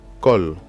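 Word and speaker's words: קול: Là, nous avons le mot kol, kol. Donc on a la lettre kof, nous avons le son O ici, d'accord.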